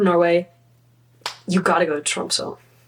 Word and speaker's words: Tromsø: If you are planning to go to Norway, you gotta go to Tromsø. And that's how they pronounce it, kind of. My Norwegian's not very good. Or Tromsø, if you're Canadian like me.